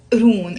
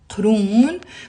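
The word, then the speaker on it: قرون: Abu Urun. And Urun is one syllable. It's written with a qaf in Arabic. Let me write it down. Qurun. But in the Lebanese dialect, we usually pronounce it Urun.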